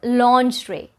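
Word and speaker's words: lingerie: it a try it's launch ray launch rick it is a french word so it has that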